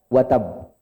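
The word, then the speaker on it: وتب: Cara bacanya gimana? Ditahan sejenak baru dipantulin. Tabbat yada abi lahabiu watab. Watab. Tahan sejenak baru pantulin.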